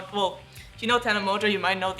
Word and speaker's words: Tana Mongeau: point and - but so "whoa" rhymes with "Tana Mongeau", and then what rhymes with "Beta Crush"? "Toothbrush" And if you don't - well you know, "Tana Mongeau", you might - know